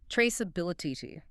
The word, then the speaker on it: traceability: It's a mouthful. 5 syllables. Traceability. And where does the stress go? It hits that middle syllable.